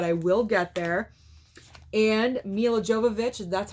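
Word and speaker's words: Milla Jovovich: And Mila Jovovich, that's how you say her name, in the Resident Evil franchise.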